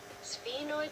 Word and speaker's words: sphenoid: Okay, how do I pronounce it, Google? Sphenoid bone.